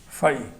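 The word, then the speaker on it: φ: और ग्रीक में इसका जो उच्चारण है, प्रोनाउंसिएशन है, वो ये है PHI, फाई। प्रश्न उठता है कि जो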